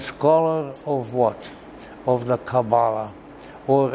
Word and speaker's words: Kabbalah: of what of the Kabbalah or as in Hebrew it is pronounced Kabbalah and he wrote two